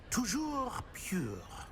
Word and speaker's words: toujours pur: Toujours pure.